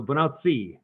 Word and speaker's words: Bonacci: And so I pronounce it more Italian. So bonacci is what I would say.